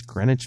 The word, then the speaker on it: Greenwich: of New York City's Greenwich Village the W in Greenwich by the way is silent kids and it's the